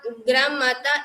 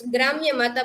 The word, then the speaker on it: Gram Mata: The Gram Mata is a Khand Kavya written by Kalapi. Some people pronounce it's Gramya Mata, but originally it's Gram Mata.